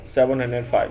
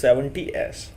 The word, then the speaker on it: 70S: Never pronounce it just like 705. No, it is not 705, it is 70S.